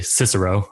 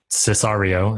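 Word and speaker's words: Sicario: my favorite new movie, Cicero, or Cesario is actually how it's pronounced, but I am obsessed with pizza, so apparently I call it Sicilian or whatever.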